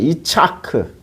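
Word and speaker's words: יצחק: 그런데 창세기 17장 19절에 그 이름을 이삭이라고 할 때는 이거는 이차크. 그러니까 이차크니까 우리말 발음으로이야 우리나라 성경은 헬라어 히브리어를 지격해서 번역한게 아니고요.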